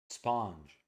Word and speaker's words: sponge: Sponge. This is not going to be a ch. Sponge. You're going to pronounce it with a J like John.